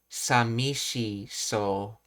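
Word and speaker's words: さみしそう: Like if you listen to Sakura, she's not saying sabi. She's saying shabby she so even with a very weakly pronounced vow v vowels she's saying uh samishi soul and that's what the AI was talking out.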